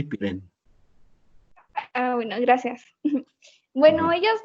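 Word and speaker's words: Pirenne: Quítale la última E y con eso tienes la pronunciación. Henry Pirén.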